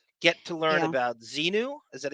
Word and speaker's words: Xenu: about Xenu.